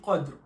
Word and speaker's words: قدر: Parce qu'en arabe, on dit Qadr, et en français, on dit cadre.